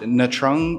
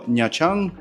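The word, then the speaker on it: Nha Trang: So, what you're going to do is, for me personally, I live in a place called Natang or Nyachang, which is how it's pronounced.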